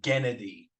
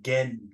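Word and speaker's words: Genndy: Well, because I said it wrong for like 20 years. I said Gennady. Gennady. Like Gendy.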